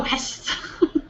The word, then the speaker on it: Hess: I've always pronounced it like he is. Or are you talking about she Hess. or Hess?